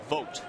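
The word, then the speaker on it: Vogt: the eighth here is Steven vot spelled vog GT pronounced vote vot back on March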